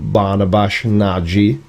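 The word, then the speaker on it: Barnabás Nagy: I never actually heard anything from Barnabash Naji, which is the correct pronunciation for his name, because I was corrected multiple times.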